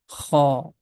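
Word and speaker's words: خاء: The name of this letter is Kha. We can also write down here Kha. Kha. This sound is coming out from the beginning of the throat.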